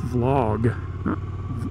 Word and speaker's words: vlog: for video log and it is two words so I guess the log is not a crime against nature but you know what hey I want to be like the cool kids and say it correctly so it's vlog V log where did I get